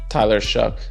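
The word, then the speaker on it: Tyler Shough: But, uh, what's how do you pronounce the quarterback in New Orleans name? Tyler Shuck.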